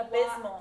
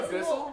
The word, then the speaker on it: abysmal: it's spelled like A-B-Y. Abysmal. Abysmal. Did you say abyssal?